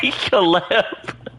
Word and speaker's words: Caleb: What did he say, Caleb? Caleb is how you say that.